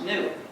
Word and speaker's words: gnu: The word GNU, the name of this animal, is used in countless word plays because according to the dictionary, the G is silent and it's pronounced new.